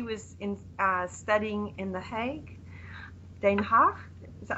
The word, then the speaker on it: Den Haag: She was studying in The Hague, Den Haag. Is that how you say it? Yes, Den Haag.